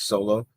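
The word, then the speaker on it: Xolo: I don't know his last name, but yeah, the way you pronounce it with the X, it's Solo.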